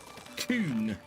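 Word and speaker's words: Kuhn: I have never had a problem because I'm talking about a piece of farming equipment, which is pronounced coon, not the other way.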